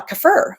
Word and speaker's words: kefir: Um I actually learned it's pronounced uh kafur.